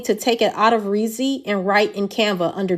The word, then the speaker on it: Reedsy: So y'all remember I was in Ritzy. I've been pronouncing it wrong. It's Reedsy.